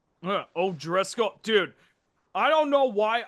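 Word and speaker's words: O'Driscoll: by uh Gary ois I think is pronounced o Driscoll dude I don't know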